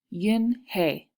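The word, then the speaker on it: Unhei: corrected it spelled UN h II I it's pronounced Yin hey oh it's you hey the boy said like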